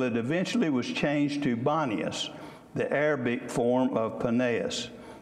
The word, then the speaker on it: Banias: Today it is called Banias, for local Arabs have difficulty pronouncing the P sound in Paneas. So they couldn't sound the P, so it became Banias, and that's what it's known as today.